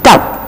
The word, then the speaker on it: dove: It is D-O-V-E, but we are pronouncing it as dove. It is not dough, it is dove.